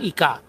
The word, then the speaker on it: ika: kaya wong aperang sabil ika berartikan kata ika benika tunggal ika itu kata itu artinya it bahasa Jawa Timuran masih iqo h ya bukan kui tapi Ika dan saya membacanya dengan a ya karena ini masih masa